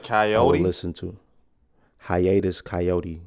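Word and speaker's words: Hiatus Kaiyote: coyote listen to him Hiatus coyote and is not spelled like coyotes k-a-i-y-o-t-e um but if you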